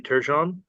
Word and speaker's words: Turgeon: of landowners Bluestone Properties, Inc., care of Marty Turgeon. Is that the correct pronunciation of that?